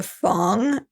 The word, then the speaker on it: Fang: It's pronounced Fang, but it's spelled like Fang.